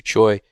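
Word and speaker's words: Tsui: was fishing with andrew choi um his name is actually spelled t-s-u-i but it's spelled choi um and he was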